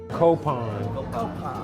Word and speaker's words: Copan: Copan. Pan is bread, co is to share.